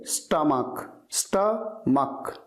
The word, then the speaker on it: stomach: कई स्टूडेंट्स इसे सही से प्रोनाउंस नहीं करते, इसकी सही प्रोनाउंसिएशन आपको हमेशा ध्यान रखनी चाहिए, स्टमक, स्टमक।